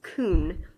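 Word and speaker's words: כון: word for establishes is kun the Hebrew word kun I think I'm pronouncing that right kay you in and it's translated in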